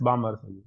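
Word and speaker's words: Balmer: बा hydrogen eight yes बामर बामर series होता है व बाल एल नहीं बोलते उसमें बामर हो जाता है बामर एल साइलेंट हो जाता है कुंड में भी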